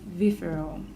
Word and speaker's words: Vifiro: And he's also the founder of Vifiro. I said it right.